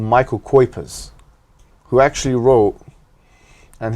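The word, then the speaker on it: Cuypers: a man called michael kuepers who actually wrote and his surname is spelt and not as not as it sounds c-u-y-p-u-r-s something like this who's who writes about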